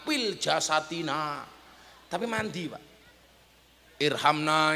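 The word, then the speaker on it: ارحمنا: jasadina tapi mandi Pak Irhamna ya arhamarahimin orang dulu bacanya irkamna ya arkamar Kimin loh mbah-mbah saya itu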